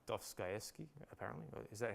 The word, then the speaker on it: Dostoevsky: And then we got, this is like Dostoevsky, apparently. Is that how do you pronounce it? Dostoevsky, yeah, whatever.